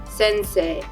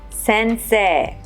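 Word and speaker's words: せんせい: word for teacher sensei is written but is pronounced sensei sensei the capital of japan is spelled to but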